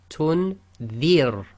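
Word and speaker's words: تنذر: If the kasra is sakin and the letter before it carries a kasra, again it's going to be light. So here we have tunzir.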